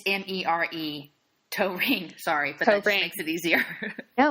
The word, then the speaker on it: Toering: It's Mere Toering.